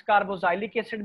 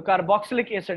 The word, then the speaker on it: कार्बोक्सिलिक एसिड: इसको कुछ students कार्बोजाइलिक एसिड भी कहते हैं, नेम्स डजंट मैटर, केमिस्ट्री में प्रोनाउंसिएशन इतनी इंपॉर्टेंट नहीं होती, लेकिन इतना भी नाम ना बिगाड़ें कि केमिस्ट्स को बुरा लगे। तो कार्बोक्सिलिक एसिड इज the correct one.